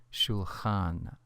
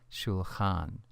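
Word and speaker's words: שֻׁלְחַן: The construct form is nearly the same, although the last vowel has weakened from a kametz to a patach, pronounced shulchan, shulchan.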